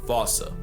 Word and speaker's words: fossa: Anyone who had a childhood like mine would pronounce it the same way I've been doing. But if you follow the Attenborough rule, Sir David would have had you saying Fossa.